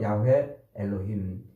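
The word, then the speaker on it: יהוה אלוהים: 이렇게 밝히고 있지 않습니까 여호와 하나님은 히브리어로 야회 엘로힘이라고 발음을 해요 야회 엘로힘 엘로힘이 말은 전지 전능하신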